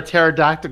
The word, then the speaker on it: pterodactyl: And why can't you hear a pterodactyl go to the bathroom? Because the P is silent.